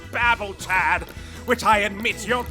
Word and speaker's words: Babel: You're like a real-life Tower of Babel. I believe it's pronounced babble, Chad, which I admit you're doing an awful lot of.